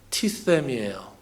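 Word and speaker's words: τίθημι: 그 그 세타가 아, 영어의 th스 발음하고 똑같습니다. 그래서 t세타 몇 번 발음하면 혀가 이렇게 좀 마비 될 것 같은 그런 발음이에요.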